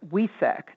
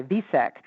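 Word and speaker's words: Wesak: in scorpio which is known in the eastern side of the world as we sac w-e-s-a-k or for some vietnamese people they spell it and say it with a v like in valentine they'll say visek but in the hindu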